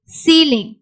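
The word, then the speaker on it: ceiling: இதுவே நீங்க சி கூட இந்த இஐ சேர்ந்து வருது அப்படின்னாலும் நமக்கு லாங் இ சவுண்ட்ல தான் நம்ம உச்சரிக்கணும். Receipt, conceive, சீலிங், receipt, conceive, சீலிங்.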